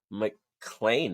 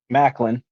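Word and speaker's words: Maclin: All right, so TNA kicked off with Mike Bailey with Trent Seven versus Steve McLean, right? Is that how you pronounce it? Macklin. Macklin.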